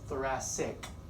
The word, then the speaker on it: thoracic: got that CIC but it's a pronounced thoracic the first C is an S sound and the second C is a hard C that's basically your chest